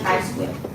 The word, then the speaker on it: chi-square: Bacanya tulisannya chi-square ya, tetapi bacanya chi-square. Jadi X-nya itu X cantik kalau orang matematik bilang.